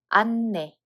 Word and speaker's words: 안내: First one, 히읗 받침 is removed, so we read it as 안내.